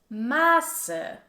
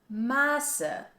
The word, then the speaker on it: Maße: Like for example in the word Masse, which is pronounced with a short vowel and it means mass, versus Maße, Maße, which has a long A sound and this means measured.